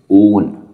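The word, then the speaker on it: -one: ओ एंड ई ओन please remember this ओन ये वन नहीं है हम लोग इसको बोलेंगे ओन ओके तो बहुत इंपॉर्टेंट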